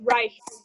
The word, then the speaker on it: Reich: Reich. I thought so. I just, tread lightly. Yeah, it's Reich.